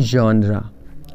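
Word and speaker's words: genre: हम क्या बोलते हैं जानरा नीचे देखि लिखा हुआ है जनरा जैसे कंफ्यूजन है जन उसी तरह होगा जनरा तो यह भी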